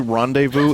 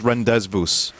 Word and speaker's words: rendezvous: What if I told you rendezvous is not how you pronounce that word? It's rendezvous. Listen, I can show you my degree.